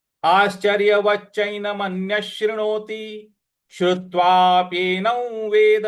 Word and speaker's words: शृणोति: मन्यश शृणोति, शृणोति, शृणोति, त पर छोटी की मात्रा है, तो शृणोतिश, शृणोतिश श्रुत्वा।